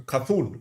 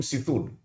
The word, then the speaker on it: Cthulhu: Cthulhu. Yeah, Cthulhu. Cthulhu. Yeah, that card. Which there's no indication if you don't hear someone say his name that it's Cthulhu, right? I always called him Sithul.